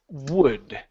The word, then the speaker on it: word: here this word um the word word is pronounced wood okay now here in order to pronounce this word you have to open the mouth okay so instead of saying W and leaving the lips like that woo it's wo W wood w there you go open